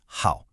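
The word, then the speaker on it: 好: This character is how and you pronounce it how.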